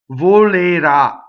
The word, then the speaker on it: volerà: So the future tense has an accent on the ultimate syllable, the last syllable. The ah is accented. So the O and the E are not accented, so they are closed.